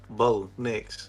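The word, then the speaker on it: Bo Nix: So, I mean, their their quarterback's first and last name is two syllables. So, what what do you want? It's one syllable. Bo, Nicks.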